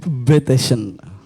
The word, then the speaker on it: Bateson: Diskusi kita ini terkait dengan seorang tokoh, Gregory Bateson. Ya, benar gitu ya. Ejaannya ya. Bukan Mike Tyson, Bateson.